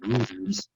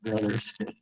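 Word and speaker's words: Brouthers: I pronounce his name Brothers, not Brothers, as if it's Irish origins.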